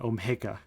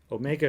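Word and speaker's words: Ω: don't know your greek letters so this is pronounced f is omega of g which means that there exists a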